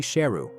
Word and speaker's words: Sheru: He also learned he had been mispronouncing his name his whole life. His name is actually Sheru, which means lion.